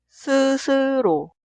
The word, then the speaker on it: 스스로: Se pronuncia 스스로, 스스로.